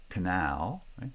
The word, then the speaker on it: canal: comes before a monosyllabic foot like in canal canal only the um one syllable gets stressed and notice that in each